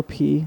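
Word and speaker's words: Peay: Let's Go P. That's like their thing. Is that their actual thing? That's their thing, yeah. It's like Let's Go P. Because it's spelled like P-E-A-Y.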